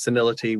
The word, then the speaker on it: senility: condition of being senile so you pronounce senility with an eye sort of the e but c now with the e sound scene yeah sanility cena yeah